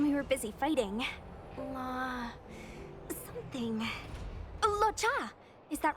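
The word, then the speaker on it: Luocha: Locha! Is that right? I remember Locha, it. that's how you pronounce it.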